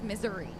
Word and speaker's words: Missouri: go the proper pronun pronunciation is Missouri at times yes it is pronounced that way see if we got